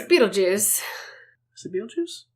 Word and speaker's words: Betelgeuse: It's Beetlejuice. Is it Beetlejuice? That's not how they pronounce it in Japanese, but with the spelling, like here, it would be pronounced Beetlejuice, but...